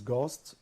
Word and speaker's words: ghost: the second word is Ghost the H is silent okay yes the third